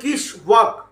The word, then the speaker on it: Kiswok: ঠিক আছে, তো কোম্পানিটা আমি বলছি তো কিশোক মানে কিস ওয়ার্ক। আমাদের বাংলায় হয়তো অন্য কিছু উচ্চারণ হয়, বাট আমি যদি ইংলিশ মানে স্পেলিং দেখে যদি আমি উচ্চারণ করার চেষ্টা করি তাহলে হচ্ছে কিশওয়াক। ওয়ার্ক নয়, কিন্তু এটা একটা কোম্পানির নাম, কিশওয়াক ইন্ডাস্ট্রিয়াল কোম্পানি।